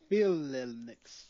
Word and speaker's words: Phalanx: Phalanx. Phalanx? Phalanx. Yeah, really? Phalanx.